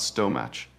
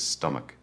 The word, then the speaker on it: stomach: The ch here sounds like K. It is not stomach, it is stomach.